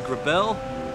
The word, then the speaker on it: Grabill: It's pronounced Grabill.